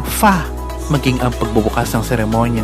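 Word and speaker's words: 发: para sa walo na binibigkas bilang ba ay parang salita para sa kasaganahan na binibigkas bilang fa maging ang pagbubukas ng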